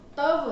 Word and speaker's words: तव: तव है, तव शुभ, तब नहीं है, वह वन का, ये सही है, तब नहीं।